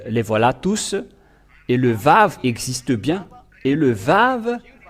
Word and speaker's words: vav: pas la lettre W il prononc tout simplement le va ve mais ils n'ont jamais prononcé le W mais les gens en